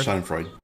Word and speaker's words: Schadenfreude: Schadenfreude.